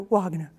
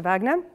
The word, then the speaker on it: Wagner: Peter Wagner I think I have to pronounce him in a German Way Peter Wagner um Peter Wagner and this second type